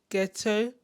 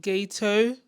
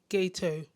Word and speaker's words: Geto: Even the way I've been saying Suguru Geto, I've been saying Geto, but I think it's actually pronounced Geto. When I listened back again to the English dub, they were saying Geto.